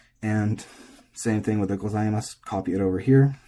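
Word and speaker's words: ございます: And same thing with the gozaimasu, copy it over here. It's normally gozaimasu. And if the u is pronounced, it's gozaimasu.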